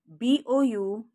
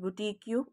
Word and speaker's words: boutique: QUE is k, it's pronounced as k. So it's unique. All right, the second word BOUTIQUE is not boutique, it is also boutique.